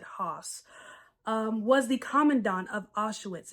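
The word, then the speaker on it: Höss: Rudolf Hoss, I guess, American Standard English, we would pronounce it Hoss, was the commandant of Auschwitz.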